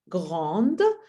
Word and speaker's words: grand: That's why I don't add any e, and we know that we don't pronounce any consonant at the end of the word. So that's why we say grand.